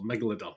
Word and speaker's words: megalodon: the megalodon offspring attacks there you go so megalodon that's it that's how you say it uh yeah instead move your database rating uh just 1.8 out of 10.